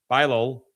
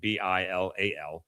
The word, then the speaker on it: Bilal: The most optimistic injury projection is Vanderbilt transfer Karis Bilal, that's how we say his name, Bilal, who has the best